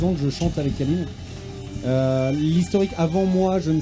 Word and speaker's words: Yalin: Alors pour ceux qui connaissent pas forcément Yalin, on dit Yalin, hein, ça s'écrit Y-A-2-L-I-2-N.